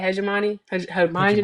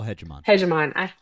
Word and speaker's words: hegemony: Hegemani, how you say it? Global hegemony.